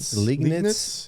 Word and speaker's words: Liegnitz: Liegnitz in Cilicia.